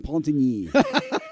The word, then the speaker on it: Repentigny: Where is Repentigny? It's if you keep going past. Say it again the way you said it. Repentigny.